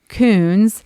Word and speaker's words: Kuhns: very strong uh last name of to coons which everyone questions what you're saying and how to spell it uh but i do love uh being